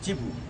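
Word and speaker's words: Cebu: যে জায়গা থেকে যাই চিবু বলছি এই কারণে সিই বিবি ইউ ইংরেজিতে লেখা হয় চিবু city C ই বি ইউ কেউ কেউ বলেন সেবু সিটি কেউ কেউ বলেন নানা রাম উচ্চারণ করেন আমি ঠিক জীব বলছি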